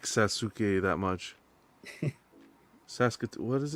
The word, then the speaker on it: Sasuke: Rose Oh, says personally didn't like Sasuke that much.